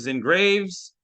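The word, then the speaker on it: Xin Graves: So, uh, my name is Zen Graves. Uh, that's pronounced X I N Graves like the cemetery and what what I am.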